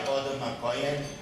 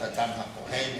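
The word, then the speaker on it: אדם הכהן: Modern Hebrew poetry was invented within 10 minutes of here by Odom HaKohen, mispronounced Adam HaKohen in some circles, Prof Dovid Katz.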